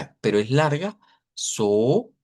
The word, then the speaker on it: so: So, aquí decimos so sostenido, no es solo, es so.